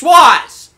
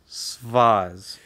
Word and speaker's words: Suaz: Roz. All right? Roz. It's Suaz. Suaz. Suaz! Why are you doing this? Spell it. S-U-A-Z. Suaz. Svaz. There's no V.